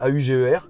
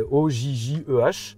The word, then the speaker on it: Ojjeh: Est-ce que les deux J, on dit OG? Ouais, on dit OG. OG. Ouais, Il n'y a OG. pas de Non. double prononciation. Non. Il y en a qui pensent que c'est AUGER. Eh oui, bah à la oui, c'est française, vrai. mais C'est vrai. non, c'est OJJEH.